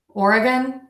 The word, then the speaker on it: Oregon: I think is beautiful and special in some way but this state really loved it or again or uh gun Oregon Oregon or beautiful thinking